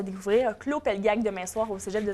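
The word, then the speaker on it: Klô Pelgag: de la musique et là attention à ma prononciation avec claud pelg n claud Pelgag claud Pelgag qui a une timbre de voix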